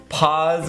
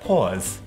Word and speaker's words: Paas: dyeing them with the pause golden shimmer and on Long Island we pronounced that pause pause okay let's get this